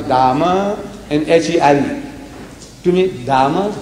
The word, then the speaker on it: Dame: They pronounce Dama and H-E-R-E.